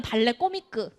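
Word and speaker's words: Ballet Comique: 마녀 아니고 그렇지 제 발레 코믹 뭐 불어 이태리 발음 발레 코미크 응, 발레 왕비의 희극 발레 응, 요거잖아.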